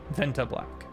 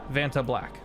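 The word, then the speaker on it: Vantablack: Venta black. Thank you. Did I say it right? Venta? Yeah. Venta black. Vanta. Vanta black.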